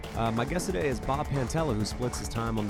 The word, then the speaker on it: Pantella: No, it's actually Pantella. It's like Pantera with two L's.